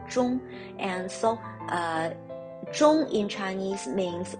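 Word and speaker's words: 钟: the taboo for clock clock in mandarin has similar sound with and in mandarin we call clock jung and so in chinese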